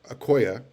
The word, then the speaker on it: Okoye: Sean Nua offered Emmanuel Okoye, as in, you would pronounce it, I believe you pronounce it the same way you would pronounce Christian Okoye's name, the old Kansas City Chief running back, the Nigerian nightmare.